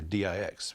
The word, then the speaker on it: dix: Orleans, they used the French word dix, or D-I-X, was pronounced dix in French.